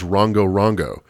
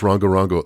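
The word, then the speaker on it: Rongorongo: If you're interested, you should look up these planks, just spelled like it sounds, Rongo Rongo.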